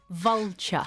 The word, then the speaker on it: vulture: Vulture. Vulture. 3 types of vultures in Spain. Oh, 3. Vulture, que se pronuncia vulture, como acabado en cha.